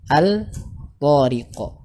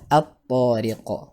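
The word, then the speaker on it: الطارق: Contohnya al-tariq, maka dibaca at-tariq.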